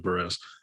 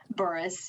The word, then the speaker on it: Burress: you before we started is your last name pronounced or is it Burris Boris yeah okay so first